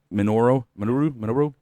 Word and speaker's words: Minoru: Minoru?